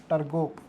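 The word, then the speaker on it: Turgot: था जिसका नाम था टर्ग टीयू आर जी ओटी फ्रांसीसी लोगों के अगर हम बात करें प्रोनाउंस करने का तरीका थोड़ा अजीब होता है आखरी वर्ड बहुत कम प्रोनाउंस करते हैं तो टर्ग नाम का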